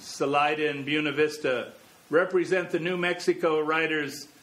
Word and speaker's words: Buena Vista: same holds for buena vista which should be buena vista but is instead pronounced buna vista except that people normally shorten it to beuni